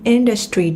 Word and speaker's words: industry: Nhấn âm 1 trong từ industry mọi người nha.